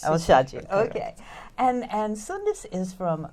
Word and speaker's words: Al-Shayji: Al-Shayji. Al-Shayji, okay.